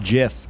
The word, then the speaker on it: GIF: or GIF but well the guy who invented the format said it's pronounced Jiff but I I don't